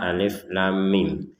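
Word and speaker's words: الٓمٓ: Di sini ada kata alif lam mim. Hanya cara membacanya, untuk yang alif kita baca alif seperti itu. Lamnya kita baca lam sepanjang 6 harokat. Lam.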